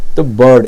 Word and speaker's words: bird: डा का उच्चारण दिया, तो बर्ड, इसमें आर जो है साइलेंट के रूप में है।